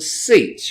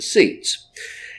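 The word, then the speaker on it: tzitz: It's called the seats. You would spell that in the English, T-Z-I-T-Z, the seats.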